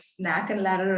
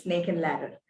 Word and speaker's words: snake and ladder: rectify them number one i saw that snake and ladder was mispronounced throughout the session in a lot of places you know in very different formats like snack and ladder or something please it